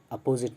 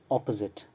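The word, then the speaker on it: opposite: ओ sound पढ़ना है, a sound नहीं, अपोजिट नहीं, अपोजिट। ऑपोजिट, actually correct pronunciation और स्टाइल है ऑपोजिट, ऑपोजिट, ओके।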